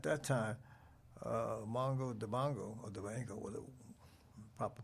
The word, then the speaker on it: Dibango: And at that time, Mongo Dibango, or Dibango, with a proper pronunciation of his word, he had the hit Soul Makusa.